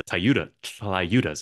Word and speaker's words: tlayudas: And I'm excited for these tlayudas. Is that how you say it? Well, yeah, it's a TL sound. Yeah, tlayuda. Am I butchering it? the know, L silent?